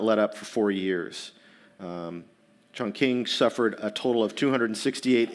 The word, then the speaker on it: Chongqing: capital to Chongqing Chongqing we'd called it Chung King at the time but I forgive my pronunciation Chong Queen Chongqing at this time currently so streams of